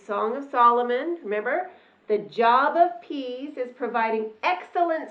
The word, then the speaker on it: Job: before going off to her job which in the Bible is pronounced job so before job is